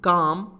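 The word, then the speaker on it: calm: अधिक रूल्स इस बीच काम काम में क्या होता है l साइलेंट होता है बी काम एंड अलर्ट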